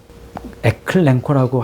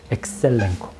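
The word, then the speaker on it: ἐξελέγχω: 에클랭코라고 할 거 같은데 에클랭코라고 안 하고 엑셀랭코라고 돼요. 엑셀랭코.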